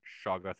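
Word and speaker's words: Shoggoth: of crafty and horror it's probably something that's utterly impronisable but shawgoth is the closest uh human approximate so auto brains i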